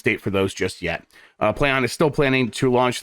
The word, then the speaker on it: Plaion: Every time I see PlayOn, I'm like, how do you say that?